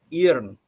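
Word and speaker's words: járn: It's like, another example would be like the word iron in Old Norse and in Icelandic is it's pronounced irn, and irn is spelled with a J in the beginning.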